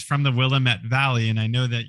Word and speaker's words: Willamette: And you want to say Willamette. Willamette. See, you want to hit that second syllable.